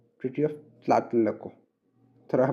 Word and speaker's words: Tlatelolco: Treaty of TLA, tlatelolco, treaty of tlatelolco। थोड़ा pronunciation करने में थोड़ा तकलीफ होता है, लेकिन this is द वे इट इज, tlatelolco, ठीक है।